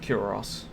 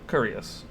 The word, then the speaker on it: cuirass: And that just is like, I don't know how to say that without it sounding rude, like cuirass. But I believe that's how it's said, because it's not curious, which my brain wants to say.